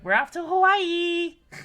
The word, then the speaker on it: Hawaii: right to be honest we don't mind how people pronounce Hawaii but saying it with the pause is appreciated so it is Hawaii Hawaii because you get like